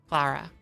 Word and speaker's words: Clara: So it's not Clara, it's Clara? Or are you talking about the other A? Is there like an emphasis on the last letter? First one was right. Clara? Like that? That's correct? I said it the second way before. Clara, not Clara. With the long A.